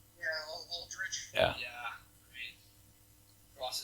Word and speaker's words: Aldrich: Is that how you pronounce his name? Yeah, Aldrich.